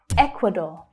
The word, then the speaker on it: Ecuador: Ecuador, Ecuador. So can you hear that stress? It's on the first syllable. Ek, equa, Ecuador. So that last syllable is the or as in door vowel sound. Ecuador, Ecuador.